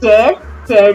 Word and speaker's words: tear: Now in this word tear can be tear the paper, or tear when you cry.